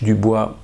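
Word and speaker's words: Du Bois: DuBois, right, that's the French Dubois, but pronounced in America as DuBois, and Alan Locke, and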